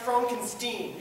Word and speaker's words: Frankenstein: My name is pronounced Frankenstein.